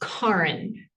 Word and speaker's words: Karin: I can't actually pronounce the official way because I don't have a Scandinavian accent. Thank The way God. I remind people to think about car in the garage.